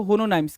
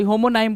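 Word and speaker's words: homonym: बिल्कुल ऐसा होता है ना कि आप कहते हो होनोनाइम्स, क्या बोलते हैं भाई उसको? होनोनाइम बोलते हैं, सॉरी होमोनाइम बोलते हैं, नॉट होनोनाइम, होमोनाइम बोलते हैं ना, होमोनाइम।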